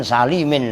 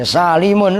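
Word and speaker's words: سالمون: Nanti kalian sering bacanya jam'u mudzakarin salimin lagi. Ya salimun lah, kan itu jam'u gitu loh.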